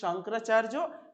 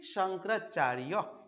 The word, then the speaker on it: শঙ্করাচার্য: যখন বাংলায় উচ্চারণ করব তখন শ্রী শঙ্করাচার্য, সংস্কৃত ভাষায় বা সংস্কৃত উচ্চারণ করলে শ্রী শঙ্করাচার্য।